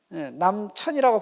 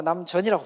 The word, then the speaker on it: 남전: 근데 발음할 때는 남천이라고 발음하지 않고 남전이라고 발음해요.